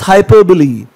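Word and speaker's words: hyperbole: Important word है, the pronunciation is हाइपरबली.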